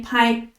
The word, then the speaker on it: 拍: 兔的白，这也是一个字，读 p-i 拍，拍球的拍。